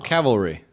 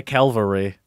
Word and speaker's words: cavalry: the the cow cavil cavalry oh wow good job right isn't that how you say it yeah most people say Calvary yes I have worried